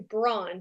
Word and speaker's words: Braun: I changed it to Braun, Braun, but it's actually pronounced Brown. It's a German name.